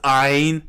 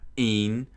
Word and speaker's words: Ein: It's Ein, not Een. I don't know why why you're pronouncing that. It's Ein. It's pronounced Ein. They all pronounce it Ein, short for Einstein for a dang reason.